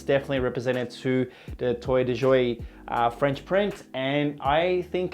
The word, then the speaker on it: Toile de Jouy: Toile de jouy. Toile de jouy, so forgive me if I pronounced that wrong, but that's the French sort